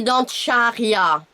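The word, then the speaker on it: Dantxaria: mais ça se dit Dancharya.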